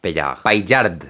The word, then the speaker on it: Paillard: Le pido a mi primo que lo pronuncie para no arriesgarme. Jean-François Paillard.